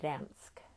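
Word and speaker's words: Gdańsk: be in dyna and dansk you don't pronounce the g someone told me so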